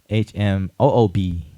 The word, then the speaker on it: Hmoob: So yeah, so Hmong, Hmong, and how it's spelled in Hmong is Hmoob.